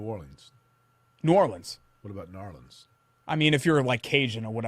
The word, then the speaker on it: New Orleans: No, it's not New Orleans. That's the wrong pronunciation. Do you say New Orleans? New Orleans. I just said it. So you say Linz. I say it correctly. Yes, New Orleans. You don't. New Orleans, Louisiana. You don't pronounce the E.